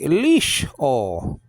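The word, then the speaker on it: לשאול: Now, but this is actually Lishol. Lishol. Lishol. And I'll be Lamed with the I class underneath it. So that's Li. And then it's one syllable because you got the schwa underneath the sheen.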